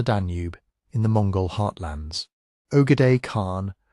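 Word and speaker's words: Ögedei: Ogade Khan, pronounced Akad, son and successor of Chingis Khan, died in December 1241 in the political order of the empire.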